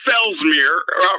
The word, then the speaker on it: Fellsmere: yeah yeah this is dr fellsmere rhymes with pap smear and i'm calling